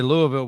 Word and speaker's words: Louisville: know I already know you got to say Louisville with your t with the tips your tips touching Louisville hold on you send